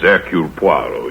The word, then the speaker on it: Hercule Poirot: Hercule Poirot. How do you do, sir? Mr. Poirot is our new neighbor. If I may be permitted the one slight correction, my name is Hercule Poirot.